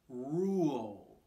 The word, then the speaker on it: rule: attention to this because it has both r and l sounds rule so this one's going to start back in your throat with an er sound and then it's going to end with an uh sound